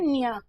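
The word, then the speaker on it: ञ: आप में से कई छात्र फिर कहते हैं कि मैम इसका उच्चारण तो हम कहते हैं ड, या फिर इसका भी अणे, या फिर हम कुछ नहीं करते हैं, भूल गए हैं कि हम क्या करते थे। तो ध्यान देंगे इसका उच्चारण क्या है, न्य, या फिर न्य बोल देते हैं।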